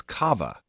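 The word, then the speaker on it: קו: The word line in this verse is spelled as kava, containing a superfluous a at the end, so it's actually pronounced kav.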